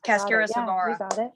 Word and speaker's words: cascara sagrada: I'm not pronouncing the last part of that word right. Yeah, cascara sagrada.